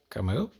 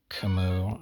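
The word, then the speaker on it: Camus: pronounced like Kim kemu the S is silent I don't know I'm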